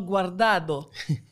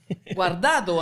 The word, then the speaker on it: Guardado: Je veux dire bienvenue et merci beaucoup à ses parents, Marlène Richer et Hector Guardado. Guardado, hein? Tantôt, je pense que j'ai dit Guardado.